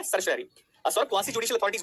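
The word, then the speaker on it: certiorari: होगी that is द सर श रारी इसका प्रोनाउंस एशन सही तरीके से करना क्या होता है सर श रारी सवासी जुडिशल अथॉरिटीज वो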